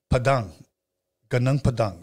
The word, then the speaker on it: Padang Padang: to you guys but I'm gonna say ganang Padang it's gone and then UNG ganang and then pad and Ang Padang Padang so in Indonesia so